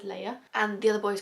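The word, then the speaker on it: Laia: every single time, but I think it's Leia. I've never seen it spelled like that, but it's L-A-I-A. I was like, Leia? I'm gonna go with Leia.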